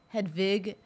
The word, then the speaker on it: Hedwig: I like to say it properly. Hedwig and the Angry Inch.